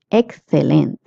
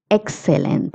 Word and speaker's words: excelente: Excelente. If you're in Latin America, you can say excelente. If you're in Spain, you will say excelente.